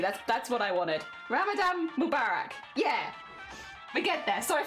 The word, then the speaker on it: Ramadan Mubarak: In Arabic this would be pronounced something like Ramadan Mubarak. Ramadan Mubarak. Okay. But in English it is generally said Ramadan Mubarak.